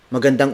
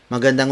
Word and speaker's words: magandang: with the Filipino phrase for good morning it's magandang Umaga maganda mo Mogga maganda mo mada word